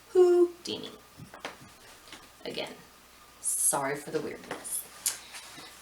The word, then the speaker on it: Houdini: have houdini and that's i say who because it's spelled like that it's got a w at the beginning of it so it's who dini again sorry for the